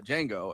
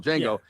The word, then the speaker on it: Django: N G O the the D is silent.